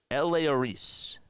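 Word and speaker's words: Elehuris: Spells it E-L-E-H-U-R-I-S. Eleoris. That's how you pronounce it.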